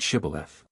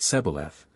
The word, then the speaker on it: Shibboleth: Ephraimites passed that way, that they should pronounce the word Shibboleth. But they, being of a different tribe, pronounced it Sebaleth, which trifling defect proved